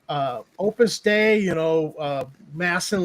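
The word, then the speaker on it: Opus Dei: It was opus day, right? And opus. Opus day, I think, is what it's called. Opus day. Oh, okay. They were prus. But it's pronounced like day.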